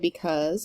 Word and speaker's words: because: We see 2 syllables in the word because, and the stress in the word because is on the 2nd part of that word, the cause.